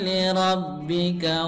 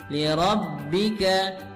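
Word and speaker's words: لِرَبِّكَ: souvenir Abby kawen How kita perhatikan ketika huruf bertasydid maka kita membacanya harus ditekan dan tidak ditekan dan tidak ditahannya hanya ditekan tidak ditahan five onlei ditekan Fals only lirobbika lirobbika ya tidak boleh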